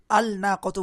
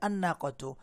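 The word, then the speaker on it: النَّاقَة: ঠিক একইভাবে আন্নাকাতু, এখানেও আল নাকাতু বলা হবে না, বলা হবে আন্নাকাতু।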